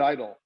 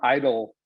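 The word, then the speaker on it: EIDL: and today we're here to talk about covet idol which you know for those folks that don't really know about the sba and their relief programs the term idol is something you see often after a natural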